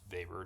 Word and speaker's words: Weber: current way it's said which is the correct German way more or less um the way it looks in English pronunciation so that name is vapor just to kind of